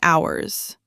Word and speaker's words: ours: We, our, and ours. That's our project. Noun after it, our. That project is ours. No noun, ours. And notice the pronunciation. Ours sounds like hours. The S is a Z sound.